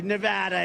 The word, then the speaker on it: Nevada: we love it and you always have to say it correctly Nevada you got to go